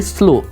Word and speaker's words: slow: Fast मतलब जल्दी, स्लो। अब देखिए यहाँ पर W नहीं है, मतलब W लगेगा, W साइलेंट है, SLOW होता है।